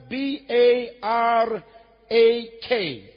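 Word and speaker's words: ברך: It is spelled B A R A K.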